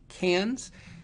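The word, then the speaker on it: Cairns: Northeast of Australia to cans now it's spelled c AI NS but it's pronounced cans cans is located near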